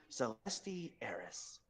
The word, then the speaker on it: Celestis: Celestis. Yes, the S is silent.